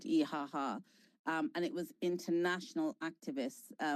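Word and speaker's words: İHH: And that flotilla, I believe it sailed from Turkey, and there's a big national organization in Turkey called İHA. It's spelled IHH, and in Turkish it's called İHA.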